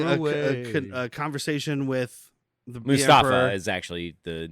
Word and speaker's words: Mustafar: a conversation with the Mustafa is actually the name of that P yeah the preferred the preferred pronunciation is must is Mustafa Mustafa but yeah is like